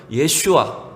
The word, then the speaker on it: 예슈아: 구약의 발음은 예슈아, 여호수아가 신약식으로 발음할 때 예수라고 이렇게 부르게 된 거예요.